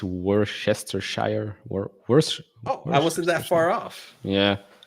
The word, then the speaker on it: Worcestershire: Yeah, I think it's Worcestershire. I wasn't that far off. Yeah, If it's right. No, right. It's Worcestershire. Worcestershire.